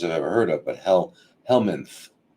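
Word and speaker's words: helminth: It's one of the stupidest words I've ever heard of, but helmanth. H l m i n t h. Yeah. Yeah. It's just it's spelled as stupidly as it sounds.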